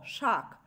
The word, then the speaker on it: শাক: ধ্বনির মত উচ্চারিত হয় যেমন ধরো শাক শাক শাক শব্দটিতে ক হচ্ছে স্বাভাবিকভাবেই অল্পপ্রাণ ধ্বনি অর্থাৎ অল্পপ্রাণ ব্যঞ্জন ধ্বনি সেটাকে আমরা উচ্চারণ করি কি আকার খ শাখ অর্থাৎ ক ছিল অল্পপ্রাণ ধ্বনি সেটি খ মহাপ্রাণ ধ্বনিতে রূপান্তরিত হয়ে উচ্চারিত হচ্ছে তাই ধ্বনি পরিবর্তনের এই